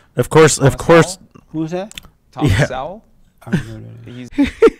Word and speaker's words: Sowell: Thomas Sowell? I don't know that. He's Because you're pronouncing it wrong. Thomas Sowell.